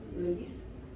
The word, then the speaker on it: Eulis: It's pronounced Eulis, as in early morning.